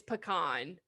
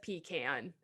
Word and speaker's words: pecan: caramel or caramel or pecan and pecan oh my god pecan it's pecan who the says pecan is there an extra e in there didn't think so like i said language